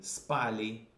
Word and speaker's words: спали: Мы спали. Again, the stress goes to the first syllable.